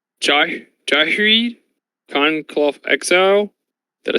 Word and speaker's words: Ghired: Duckers, aka Jennifer, is going to be playing, if my pronunciation is correct, Jahreed Conclave Exile. Did I say that right, Jennifer? I'm not sure if you did. I always pronounce them Girid.